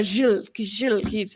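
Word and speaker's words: Gilles: you say G Charles I call him Jill Tetro yeah Jill it's g i l l e the so it is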